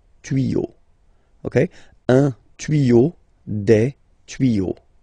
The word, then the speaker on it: tuyaux: Same rule. You don't pronounce it. Des tuyaux.